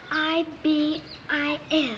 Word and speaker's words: ibis: I don't know how to say it it's i b i s ibus yes Ibis tell me something hiy where did